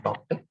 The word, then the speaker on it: Tauktae: Tauktae's, so the pronunciation cyclone Tauktae.